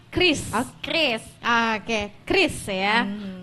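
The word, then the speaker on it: QRIS: sama orang Bang hah Bacanya jangan curiis tapi Kris Oh Kris Oke Kris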